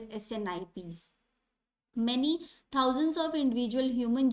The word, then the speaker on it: SNP: Okay, abbreviated form is SNP, and pronounced as SNPs. They are also called as SNIPs.